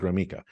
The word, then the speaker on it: Gromicko: There's no E in it, but I pronounce it Gromicko.